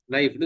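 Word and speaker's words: knife: இங்கிலீஷ்ல என்ன சொல்றது ஸ்பெல்லிங் அப்ப இதை நீங்க இக்னைப் சொல்றது இல்ல கேம் வந்து என்னது சைலெண்ட் ஆக்கிட்டு நைஃப்னு சொல்லி இருக்கீங்க அதேதான் இங்க எல்லாம் சைலென்ட்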